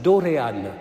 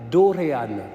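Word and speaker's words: δωρεάν: le texte original c'est c'est facile à prononcer c'est doréane dorean on peut le dire ensemble doréane vous arrivez à la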